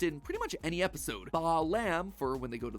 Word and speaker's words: Balaam: All three of them, Bael, Pie Man, and Ba lamb, are phonetic ways of pronouncing the names Bael, Paimon, and Balaam.